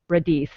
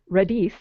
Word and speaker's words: Radice: My guest today is Radice, and I'm now realizing that I may not have pronounced that right. Radice. No, you did. Radice.